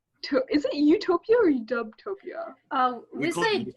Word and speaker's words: UWtopia: is it utopia or udubtopia um actually i said udeptopia sounds much more smoother you know kind of like on one pronunciation so utopia is kind of like how we pronounce it okay um yeah i